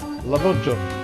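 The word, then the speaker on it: lahmacun: Lamachan. I love Lamachan, yeah? I love it. It's great. Do you like Lamachan at home? Do you know what it is? Yes, that's it. Lamachan, yes.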